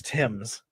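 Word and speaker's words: Thames: make the the British angry yep it is Tims I've had to learn how to pronounce Worcester and everything else I I always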